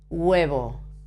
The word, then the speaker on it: huevo: a very very very soft G in front of the U it's very soft you can't almost you hardly notice that El huevo as when you say in English for example this this particle oh sorry it's very similar huevo okay now El huevo